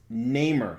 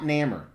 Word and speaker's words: Namor: And he pronounces it Namor. He's wrong. He is a comic book genius. He knows more about comics than I will ever forget. And he's wrong. It's Namor, not Namor. Well, this isn't even Namor.